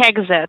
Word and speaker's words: Egzit: i pronouncing it right is it edge z exit like like that uh like like exit like exit okay okay okay i just